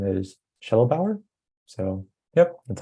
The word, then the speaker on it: Shedelbower: right let's see uh someone asked how you pronounce my name my last name is shuttle Bauer so yep that's how you say it uh